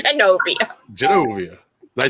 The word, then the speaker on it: Genovia: It's Genovia.